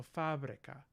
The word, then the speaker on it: fabrica: in ipa as well fab fabrica so we have the syllable breaks here as well and stress here so fabrica what are the differences here we have instead of the voice bilabial stop ba we have a voice bilabial fricative and instead of a short e we have a short a vowel here and the la